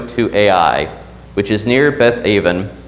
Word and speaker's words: Ai: You know, we always pronounce the city's name as Ai, because, I don't know, you look at that name on the page, and that doesn't really work in English.